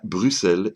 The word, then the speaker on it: Bruxelles: que l'on ne dit pas Bruxelles mais bien Bruxelles et ce malgré le X la prononciation Bruxelles prenant d'une erreur de retranscription de